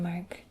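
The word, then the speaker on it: mả: little question mark and you pronounce this as Ma so you sort of descend and then Ascend again almost in the same way as we ask questions in English um like the way like the way we say really m Ma and this means tomb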